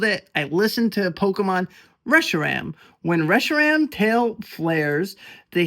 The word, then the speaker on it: Reshiram: It's Reshiram. I looked it up. I Googled it. I listened to Pokémon. Reshiram.